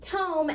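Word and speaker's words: tome: so this is pronounced toome as in a large book and this is some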